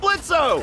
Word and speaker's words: Blitzø: right in hey that sounds like blitzo the O is silent hey